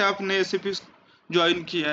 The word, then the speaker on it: SAP: Correct pronunciation is SAP।